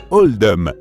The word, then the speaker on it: Oldham: choix a été fait pour refléter la prononciation d'Oldham dans l'accent local qui se rapproche davantage de holdom par conséquent c'est pour